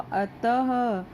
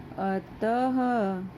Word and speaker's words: अतः: उच्चारण भी कैसे हुआ, अतः, अतः। ठीक है, ये ह की ध्वनि आई है पीछे।